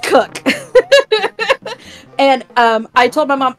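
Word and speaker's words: Kock: Okay, let me paraphrase this by saying it's pronounced cook, but it's spelled K-O-C-K. Yep. My brain. But it's pronounced cook.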